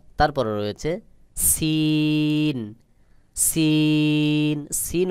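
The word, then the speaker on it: سين: তারপরে রয়েছে scene. Scene. Scene উচ্চারণের ক্ষেত্রেও বাহিরের দিকে বাতাস বের হবে, তবে আওয়াজটা পাতলা মতো করে হবে, যেমন দেখুন, সিন সিন।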